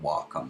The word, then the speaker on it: Wacom: called a Wacom Cintiq it's actually Japanese word walk on the exciting pronounce it a sin to eat so Google that if